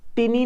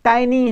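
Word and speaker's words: tiny: Next, टिनी नहीं है भाई, टिनी नहीं है, टाइनी है।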